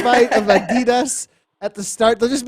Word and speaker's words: Adidas: people in chat saying i am pronouncing adidas right oh it is actually a german brand so this is an adidas commercial for adidas where they say adidas in the commercial yeah and then we've